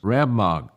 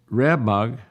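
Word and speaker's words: Rab-mag: the king james bible has rab mag the word is left untranslated because the translators did not understand its meaning rabbagh i think is the way it's pronounced r-a-b-m-a-g has been correctly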